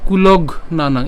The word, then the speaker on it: কুলঘ্নানাং: এখানের মধ্যে হচ্ছে আমরা উচ্চারণ করবো হচ্ছে কুলঘ নানাং। এখানে ঘ পর্যন্ত উচ্চারণ করছি আমরা, তাহলে একে যদি আমরা উচ্চারণ করি কি পাই, কুলঘ নানাং।